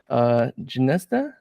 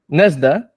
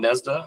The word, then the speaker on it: Gnesda: Tom Gnesda. Gnesda. Oh, the G is silent.